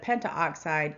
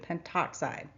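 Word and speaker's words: pentoxide: Instead of pentto oxide, you will need to drop the a off the prefix and simply include penttoxide.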